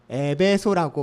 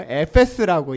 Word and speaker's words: 에페스: 여러분, 우리 성도님들은 이제 에베소라고 발음하지 마세요. 에페스입니다. 우리 에페스서를 공부하고 에페스라고 얘기하는, 조금 터키식으로, 그리스식으로 얘기하는 멋있는 또 사람이 됐어요.